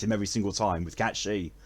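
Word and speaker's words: Cait Sith: Or, no, Cat Shi. It always feels weird to actually use the proper pronunciation of his name, rather than how I used to call him, which was Kite Sith. It's Cat Shi.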